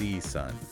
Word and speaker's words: C Sun: seon okay and no you don't pronounce it the Chinese way it's just SE Sun T Sun like it's